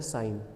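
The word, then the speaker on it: sin: दिख तो रहा है ये सिन, पर इसको प्रोनाउंस किया जाता है साइन।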